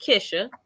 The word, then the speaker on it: Kisha: kisha so i'm my my name is actually pronounced kisha i'm so sorry dr